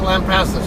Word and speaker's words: Lampasas: The guy who checked me in there, he actually calls it Lampasas himself, so... it seems that my pronunciation of it is correct.